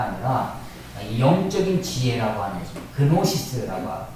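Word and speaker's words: γνῶσις: 그노시스라고 하고 앞에 G자를 띄면 묵음으로 읽기도 하는 것입니다.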